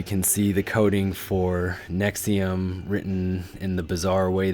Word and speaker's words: NXIVM: you can see here as I stated earlier pronounced nexium with that 86 connections